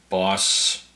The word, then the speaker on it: Bos: So Adam Gillard and Peter Boss. I think BOS is pronounced boss in this language.